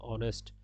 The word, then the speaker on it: honest: এই যে এখানে ভাওয়েল না হওয়ার পরেও এখানে এন হয়েছে, কারণ এইচ এর উচ্চারণ অ এর মতো হয়েছে। অনেস্ট, অনেস্ট, এটা হচ্ছে অনেস্ট, এটা কিন্তু হনেস্ট না, এটা হচ্ছে অনেস্ট।